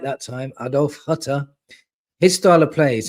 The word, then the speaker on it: Adolf Hütter: So, talking about the last one that we want to save us, and that's Adolf Hütter. I said it right that time. Adolf Hütter.